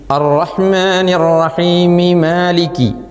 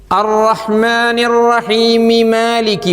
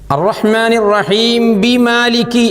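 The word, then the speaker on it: الرَّحْمَٰنِ الرَّحِيمِ مَالِكِ: മീമാണ് മാലിക്കി തുടങ്ങുന്നതും മീമാണ് കസറുള്ള മീം ഫത്ഹുള്ള മീം ഇത് രണ്ടും ചേർത്തി ഓതുമ്പോൾ അറഹ്മാനി റഹീമിമാലി അറഹ്മാനി റഹീമിമാലി പറയണം വളരെ ശ്രദ്ധിക്കുക അറഹ്മാനി റഹീംബിമാലിക്കി എന്ന് ചിലരെങ്കിലും ഓതുന്നത് കേട്ടിട്ടുണ്ട്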